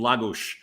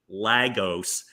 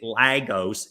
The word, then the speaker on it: Lagos: And from that point, I am now in what they call the Algarve in Lagos. Is it Lagos? How do you say it? Wait, right. So I was calling it Lagos, sounding right out of Northeast Philly for years.